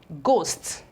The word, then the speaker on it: ghost: okay so we have ghost ghost you can see that this H here is equally eliminated we have g o